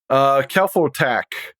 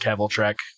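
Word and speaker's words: Kvelertak: I've heard people call it Keveltrek. That's not even close to how that's spelled. I believe it's pronounced Keveltrek. That's so weird. But I've never heard them, so. Well, okay. They're from Norway, so I might have pronounced it wrong, too, because I pronounced it like a German.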